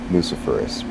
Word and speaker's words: luciferase: And with the word itself, luciferase, because that is the correct pronunciation. Confirm that. Lucifer is like ace.